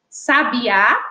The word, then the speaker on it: sabiá: frente ou a penúltima Então nesse caso sabiá é oxítona sabia paroxítona e sábio paroxítona també e não quer que